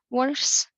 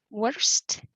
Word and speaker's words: worse: Just a pronunciation tip for worse or worst. When you want to use the comparative, sometimes through my experience, students tend to say worst, but they mean comparative. So it should be worse, or the other way around.